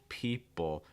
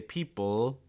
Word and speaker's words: people: with the top but you're much much much more likely to hear it pronounced with a dark L we're getting the back